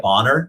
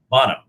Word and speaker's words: Bonham: And, do you say it Bonner? Is that how you say it? Bonham. Bonham.